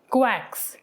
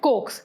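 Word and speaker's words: coax: हमारे पास वर्ड है कोएक्स। इसको वैसे तो हम सही प्रोनाउंसिएशन इसका है कोक्स, मगर क्योंकि हमें इसकी ट्रिक समझनी है इसीलिए हम इसको कोएक्स प्रोनाउंस करेंगे।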